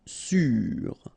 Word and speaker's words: sûr: Malpoli, sûr, accent circonflexe on the top of U, sûr.